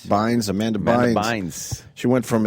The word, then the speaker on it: Bynes: Bynes.